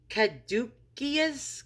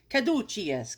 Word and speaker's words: caduceus: new yorker with a terrible pronunciation try to pronounce what this thing is this kadukius caduceus who the hell knows all right so it's a caduceus caduceus all right and that's what i call